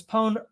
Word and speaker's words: pwned: At least here at Unquad Reservations, pwned alterates with posse and rhymes with loaned.